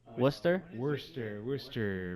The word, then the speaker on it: Worcester: Worcester, Massachusetts.